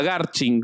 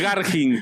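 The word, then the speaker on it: Garching: escuchen al lugar a garchín lo trasladaron me parece no puede ser es que es garging pero bueno a garfin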